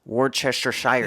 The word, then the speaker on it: Worcestershire: Can you say Worcestershire sauce? Worcestershire sauce is actually how you say it.